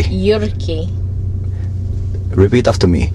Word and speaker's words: Jyrki: year and you really want to learn to pronounce my name right yay go on please uric a Yorkie repeat after me yucky yucky and now do that the same home